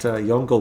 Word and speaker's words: Yongle: in chines I believe it could possibly be pronounced y Lee but yongle works y o n g l eong why